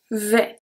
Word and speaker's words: vais: So here, for the first one, je vais, the S is not pronounced. Je vais.